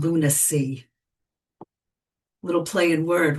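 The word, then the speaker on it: Lunasea: It's from an album called Lunac. Little play word, right? Because it's spelled L U N A S E A like Moonwater, you know, like that. But it's pronounced lunacy.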